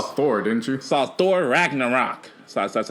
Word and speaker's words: Ragnarok: and you saw Thor didn't you saw Thor Ragnarok that's how you say it how were they